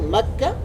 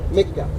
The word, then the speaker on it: Mecca: It is a place of worship for Muslims, where they pray Saudi Arabia, it is pronounced in Arabic macca, in Spanish, Mecca.